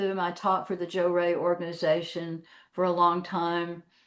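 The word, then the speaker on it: Johrei: Joe Ray is spelled J O H R E I, but when I took it over, I called it Jo uh J O R A Y.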